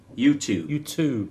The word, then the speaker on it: YouTube: It's not a tube, it's a tube with a T. Not a tube with a CH.